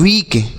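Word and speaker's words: weak: तो डब्ल्यू ई ए के इसे हम पढ़ते हैं वीक। क्या पढ़ते हैं? वीक। और डब्ल्यू डबल ई के इसे भी हम वीक पढ़ते हैं। ठीक है? दोनों को वीक पढ़ेंगे।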